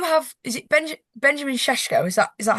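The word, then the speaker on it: Šeško: You have is it Benj Benjamin Seshko?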